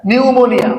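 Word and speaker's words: pneumonia: Perseverance, হ্যাঁ, নিউমোনিয়া, দেখো নিউমোনিয়া, PHEU, PNEU, নিউমোনিয়া, ঠিক আছে। এই পি এর উচ্চারণটা কি হবে উজ্জ্ব থাকবে, এরকম হবে যে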